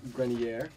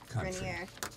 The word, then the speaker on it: Grenier: Oh, Adrian Grenier. Grenier.